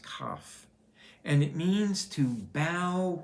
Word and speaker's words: Kaf: The letter is pronounced Kaf, and it means to bow before, to come and bow before a king, in a position of being humble before God.